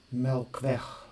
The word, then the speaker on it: Melkweg: Melkweg, they pronounce it, the Dutch guys.